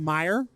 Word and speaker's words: Meijer: this is a beer we called Meyer and it's spelled MDI ER Oh like the grocery store Michigan it's like the